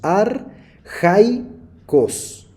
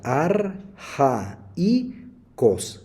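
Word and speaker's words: ἀρχαῖος: palabra que aparece acá si nosotros tuviéramos que pronunciar este diptongo junto diríamos ar Hi cost sin embargo como la diéresis aparecen la segunda vocal del diptongo se pronuncia arja y Cos que se traduce primitivo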